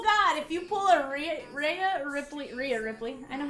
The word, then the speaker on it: Rhea Ripley: Peacock says, Vivian, I swear, full God, if you pull a Rhea Ripley. I know how to say her name, okay? I know how to say her name. It's Rhea Ripley.